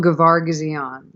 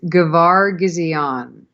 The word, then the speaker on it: Gavargazian: Gavargazian. Yeah, I stumble over one. There's an extra syllable in there that I'm stumbling over. It's Gavargazian. Gavar Gizion.